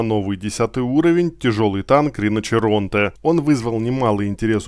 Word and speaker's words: Rinoceronte: в комментариях подсказали что правильно всё же произносится риночеронте а не Рино церон как я говорил но Извините в итальянском